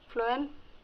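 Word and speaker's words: phloem: पी और एफ की spelling पे ध्यान मत देना, प्रोनाउंसिएशन पर ध्यान देना। फ्लोएम फ से और फूड भी फ से, जैसे जाइलम जल, फ्लोएम फूड।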